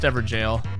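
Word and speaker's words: Evergaol: I'm sorry. Pronounced Everjale.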